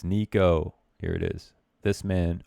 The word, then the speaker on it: Niko: Another player whose name rhymes with demo. It's Niko.